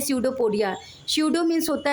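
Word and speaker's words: pseudopodia: हम कहते हैं सडोपोडिया क्योंकि दोस्तों यहां पे सडो में पी साइलेंट होता है लेकिन इसको पढ़ते हैं सडो एस से पढ़ना चाहिए लेकिन पी साइलेंट होने के कारण इसको हम पढ़ते हैं सडोपोडिया सडो मींस होता है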